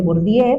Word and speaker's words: Bourdieu: Yo le llamo Bordier, pero pues hay quien le llama Borbiu porque lo lo leemos desde el castellano.